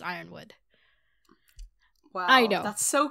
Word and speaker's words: Yronwood: Okay, I know it says Yronwood. I'm pretty sure it's actually pronounced Ironwood.